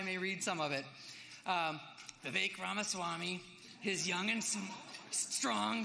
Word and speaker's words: Vivek Ramaswamy: It's Vivek like cake and Ramaswamy like Ramaswamy is the way I like to say it.